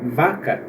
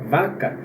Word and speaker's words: vaca: vai ouvir o som de ver no caso vaca vaca só que isso a gente também vai discutir